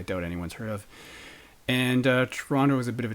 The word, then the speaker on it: Toronto: So Toronto, Toronto, and just a note on pronunciation for those not from Toronto. And I just said Toronto, but most people say Toronto, but I just said Toronto. So, and sometimes I do